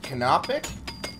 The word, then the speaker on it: canopic: already did it so wait that's how you pronounce it canopic yeah ever so much canopic potato I don't